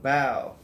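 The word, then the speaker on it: Bao: couple bow and johnny i was gonna see if he pronounced it right bow b-a-o so bow is the lady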